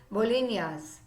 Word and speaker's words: bolinhas: This traditional Goan cookies, bolinas, pronounced as bolinhas, which means cookies in Portuguese, and coco means coconut.